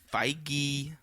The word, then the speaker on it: Feige: Kevin feige which I now know how to pronounce that name thanks to Chris Hardwick's podcast feige um he uh now he said that now